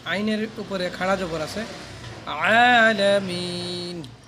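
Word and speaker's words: الْعَالَمِين: এখন এই যে আইন জবে, আইনের উপরে খাড়া জবর আছে, আলামিন। আইন ভিতর থেকে নিতে হবে, উচ্চারণ করতে হবে ভিতরে, গলার নিচ থেকে। আলামিন, আলহামদুলিল্লাহি রাব্বিল আলামিন।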